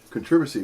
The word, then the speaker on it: controversy: that earlier i know i remember the first time i heard controversy what did that english person just say british they said controversy what is controversy the axis on the first syllable controversies yeah just having